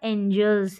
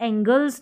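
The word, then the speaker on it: angels: एंजल्स है ठीक है एंजल्स पढ़ेंगे इसे एंगल की स्पेलिंग होती है ना तो उसमें भी कंफ्यूजन रहता है ए एन जी एल ई रहता है तो यह एंगल्स नहीं पढ़ेंगे एंजल पढ़ेंगे दो द एंजल्स वर वेरी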